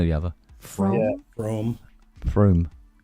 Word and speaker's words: Frome: So, like, pretend there's 2 O's in there? Yeah, You like need to draw a line over that motherfucker. But there is. Yeah, you pronounce it like it is, but there aren't.